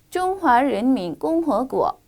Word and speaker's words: 中华人民共和国: 中华人民共和国.